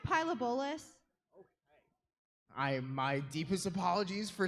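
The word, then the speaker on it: Pilobolus: It's pronounced pyabolis.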